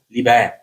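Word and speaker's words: liber: Le mot livre vient du latin libère qui désigne L i B e R. Souvent en en latin le B se prononce comme un V un V subtil une vache comme un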